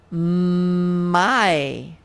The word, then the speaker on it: my: the first one is my the y says the i sound which sort of sounds like why we are used to it saying ye right but now it's going to say i my my my